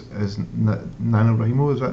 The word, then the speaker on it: NaNoWriMo: Now you kind of mentioned it briefly earlier on, but I know another big kind of passion of yours is NaNoWriMo. Is that how you pronounce it?